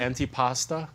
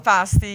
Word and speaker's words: antipasti: Is it antipasta? Is that how you say it? And Antipasto? antipasti, yes. Antipasti.